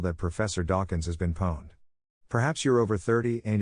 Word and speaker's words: pwned: At least here at Unqualified Reservations, pwned alliterates with posse and rhymes with loaned.